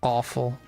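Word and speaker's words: offal: So, whatever is in front of this is pronounced awful.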